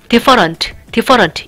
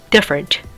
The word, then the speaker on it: different: 그래서 오늘 했던 different 보면은 different 어로 발음하면은 different 이게 아니라 힘 빼고 different 이렇게 발음하게 됩니다.